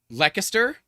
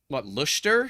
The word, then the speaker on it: Leicester: So the way that my American brain wants to do it is Leicester, but I know that's not right. It should be something around like Luster, something like that.